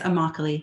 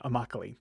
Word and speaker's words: Immokalee: you do, and your project specifically, People of Immokalee. Did I pronounce that right? Yes, Immokalee. Immokalee.